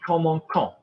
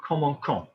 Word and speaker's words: commençons: looking, that would be commençons. Yeah, commençons. How do we make a C soft? Everybody forgets this. We need a cedilla on it.